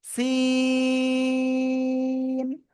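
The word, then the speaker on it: س: জিহ্বার আগা নিচে দুই দাঁতের পেট ও আগার সাথে লাগাবো, লাগে চিকুন আওয়াজে 4 আলিফ টানে উচ্চারণ করব। সিন সিন।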